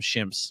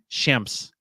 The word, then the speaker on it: Shemps: Shemps. Yeah, but you're making it an I instead of an E.